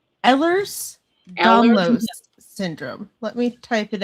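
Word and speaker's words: Ehlers-Danlos: I uh I'm like almost mid30s and I have a disease called Ellers's Donlo syndrome. And what is that? How do you say that? Ellers's Dlos syndrome.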